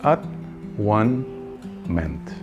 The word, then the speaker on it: atonement: But you know, atonement, kung ipropronounce po natin yung atonement in English, at one meant.